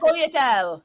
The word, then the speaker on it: sfogliatelle: and just get cakes and cannolis and the sfogliatelle sfogliatelle How do you pronounce that? Sfogliatelle.